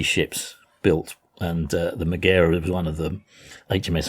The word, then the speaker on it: Megara: I think I said HMS Megara, but I think it's actually pronounced Magira, and it was actually